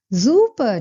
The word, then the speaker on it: super: And Max replies by saying, super, danke. S at the beginning of any word needs to be pronounced as Z.